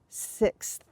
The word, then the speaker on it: sixth: it difficult to pronounce the difficulty in this one is that X followed by a th so let's practice that